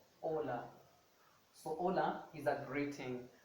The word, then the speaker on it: hola: a silent letter meaning that you do not give it any sound so it becomes a silent letter so for example i have ola so hola is a